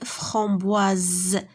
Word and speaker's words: framboise: Donc S مين كتجينا entre deux voyelles se prononce Z.